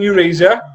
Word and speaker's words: Eurasia: Humans who lived in Eurasia. Where? Eurasia. Spell it.